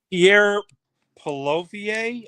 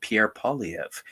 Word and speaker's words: Pierre Poilievre: Pierre Poilievre.